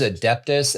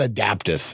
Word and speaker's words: Adeptus: It's not Adaptus. It's Adeptus. you just always say it wrong.